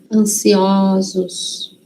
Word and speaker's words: ansiosos: E quando vai para o plural, muda a pronúncia. Vira ó. Então, ansioso, singular. Ansiosos, plural.